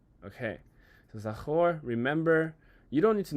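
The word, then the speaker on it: זָכַר: I think it will be fun for me to keep talking about this word, but it's pronounced zachor, and we're gonna press this.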